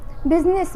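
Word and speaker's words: business: सिर्फ बिजनेस एक ऐसा वर्ड है जहाँ की आई साइलेंट होता है।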